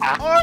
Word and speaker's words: Archon Loaf: And Doodles, I think you mispronounced Archon Loaf as neutral loaf. No, it's Archon Yes.